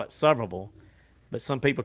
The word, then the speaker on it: Sevierville: But I went There's this place in and I say this name wrong every time, but it's I call it Sevierville. But some people call it Sevierville, Tennessee.